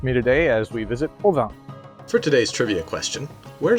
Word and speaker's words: Provins: Provins is about an hour and a half by train from Paris. Like most names in French, the S is silent.